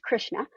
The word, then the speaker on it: Krishna: It's actually pronounced Krishna.